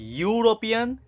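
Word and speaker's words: European: ইউরোপিয়ান ইউরোপিয়ান ইর ই কিন্তু vowel কিন্তু উচ্চারণটা করো ইউরোপিয়ান ইউরোপিয়ান ইউ উচ্চারণ হচ্ছে তাই না ইউ দেখো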